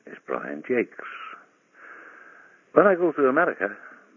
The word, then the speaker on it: Jacques: Hello, my name is Brian Jacques. When I go to America, people fondly call me Mr. Jack Hughes, or Jack Wes, or even people who think they can speak French say, hey, it's pronounced Jock.